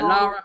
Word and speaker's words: Lara: Laura Croft. How do you pronounce it, Jim? People always get angry at me from this. Lara Croft. Laura Croft. Yeah, Lara.